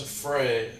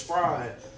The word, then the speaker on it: Frey: He actually pronounced it right, but it's spelled Frey, and everyone says Frey, and, you know, I tell them, like, no, it's Fry.